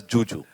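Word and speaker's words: Zhu Zhu: So it's written as it's written as Zuzu, but she pronounces it as Juju.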